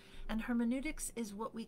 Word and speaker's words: hermeneutics: case you haven't heard it pronounced before it's pronounced hermeneutics and hermeneutics is what we call the study of interpretation